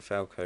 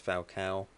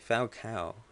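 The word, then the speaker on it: Falcão: Apparently I'm pronouncing Falco wrong. I always say Falco, but apparently it's Falcao, which I guess makes sense.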